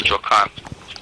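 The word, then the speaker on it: Michoacán: Michoacan is spelled MICH. Yep. OACAN. Okay. Michoacan.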